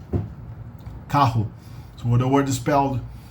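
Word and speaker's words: carro: the English a h kahoe so when the word dispelled in the middle of the word but it's germinated spelled with two two r's together it's um also spelled pronounced like in the throat so you say Kaho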